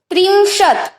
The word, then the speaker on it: त्रिंशत्: हम ऐसा नहीं बोलते कि त्रिंशत, त पूरा नहीं, अगर बोलेंगे ना तो ऐसा उच्चारण होगा कि त्रिंशत, पर हम आधा बोलते हैं तो सिर्फ त्रिंशत तक आधा बोल के रुक जाना है।